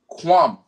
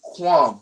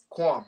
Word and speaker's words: qualm: you say that right it's not kwame as in kwame yasara you know rise israel but we gonna say quan right qualm okay so what would